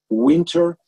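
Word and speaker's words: Whynter: In our office, as an alternative to the IQ Air, we are using something that calls Winter, but it's spelled with W-H-Y-N-T-E-R, and our hygienists love it.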